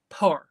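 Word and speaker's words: pow'r: and his paw but apparently it's power but they want to say it like Po so it sounds like one syllable I believe in the um in the lyrics it's like P W apostrophe r it's so weird um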